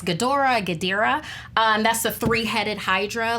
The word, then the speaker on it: Ghidorah: Like I said, it's the arch nemesis, and I keep on mispronouncing his name. It's Ghidorah.